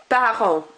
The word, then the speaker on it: parents: Notice T and S at the end, I'm not pronouncing them, they're part of our PDTS rule. Mes parents.